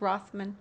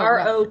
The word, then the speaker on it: Rothfuss: Rothman. His name is Patrick Rothfuss. Oh, Rothfuss.